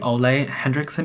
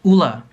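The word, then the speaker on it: Ole Henriksen: add post on Instagram and I kept saying Olay Hendrickson because I thought that's how you pronounce it Orly Hendricks and apparently it's Ola Ola Ola Ola all the Hendrickson there we go can't even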